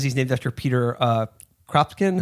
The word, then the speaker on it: Kropotkin: Yeah, in the Venona book here, it says he's named after Peter Kropotkin.